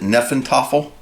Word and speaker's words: Hnefatafl: So, and again, I think it's called Hnefatafl. I think that's how you pronounce it, Hnefatafl.